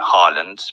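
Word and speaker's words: Haaland: his name in english he doesn't mind if people call me harland because there is no or sound i mean this there is a sound but there's no or letter in english so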